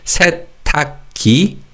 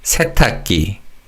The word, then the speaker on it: 세탁기: Now in terms of pronunciation, when you say 세탁기, the 기역 받침 in the second syllable carries over to the final syllable, and the 기역 in the third syllable is pronounced as a 쌍기역. So it's not 세탁기, it's 세탁기. 세탁기.